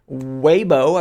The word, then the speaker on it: Weibo: there's a leak here on weibo I believe is the correct pronunciation it's a Chinese social